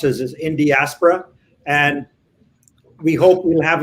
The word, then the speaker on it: Indiaspora: Rajiv, that's how we pronounce it, is Indiaspora.